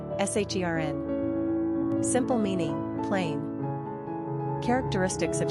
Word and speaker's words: Sharon: Pronunciation, SHERN.